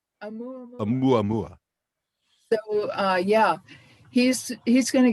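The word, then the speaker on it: ʻOumuamua: I think you pronounce it Oumuamua. Oumuamua.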